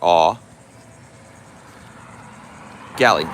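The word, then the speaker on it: Eau Gallie: beer make the beer e-a-u as in ooh or ah gali g-a-l-l-i-e is how you spell it just answering the question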